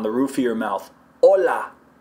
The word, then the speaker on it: hola: Hola, I put it up on the roof of my mouth and it should be really firm.